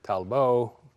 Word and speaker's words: Talbot: bought from England and called it talbo but the French pronunciation on it and then added